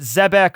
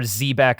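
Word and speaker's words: Xebec: There's two ways to pronounce it: Zebek or Zebek. I've heard. I think they use Zebek in the anime, but I always say Zebek.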